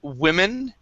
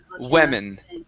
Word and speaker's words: women: we have this word we start off with a we instead of w it's we and then men women women venen ven okay